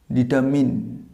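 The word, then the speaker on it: determine: ডিটারমাইন না, এটা উচ্চারণ ডিটারমাইন হবে না, উচ্চারণটা হবে ডিটারমিন। ডিটারমিন। এটা কি, প্রথমে আর্ট, ডিটার, আরের আর্টটা সাইলেন্ট হবে, তারপর মাইন্ডটার উচ্চারণ হবে মিন, উচ্চারণ হবে ডিটারমিন।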